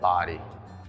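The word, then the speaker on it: Bodie: this lighthouse' name but here in the Outer Banks we do pronounce it body as you climb the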